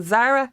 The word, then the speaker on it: Zaragoza: So think of the shop, the clothes shop Zara. Yeah. So Zaragoza. Goza. That's it, exactly.